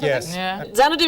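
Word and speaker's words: Xanadu: a stately Dome decree colid there we had zanadu is right and Mr Thatcher is right you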